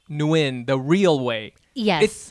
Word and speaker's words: Nguyen: worry you know honestly just don't pronounce the g it's it's easy you can and and all of them are acceptable you know win new yen you know i always say like win like win or lose that's like pretty that's